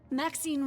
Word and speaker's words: Maxine: Maxine rhymes with queen, after all.